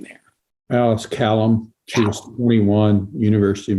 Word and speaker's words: Kalom: And Alice, and how do we pronounce Alice's last name there? Alice Kalom.